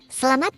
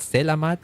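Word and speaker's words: selamat: Salamat pagi cuz I I know that one from slamat pagi. Slamat pagi. That's how you say it. Is it not samat? It's slamat.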